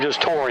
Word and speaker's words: Jatorian: And the way they pronounce his name, just Torian. Just Torian, okay.